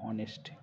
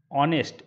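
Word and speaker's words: honest: এখানে বসবে এন এান অনেস্ট an hour কারণ এইখানে আমাদের এইচ এইচ এর যে সাউন্ডটি এইচ এর যে সাউন্ডটি সেটা কিন্তু এখানে এইচটা সাইলেন্ট।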